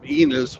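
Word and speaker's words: Ennis: this load uh from enus which rhymes with penis uh last night penis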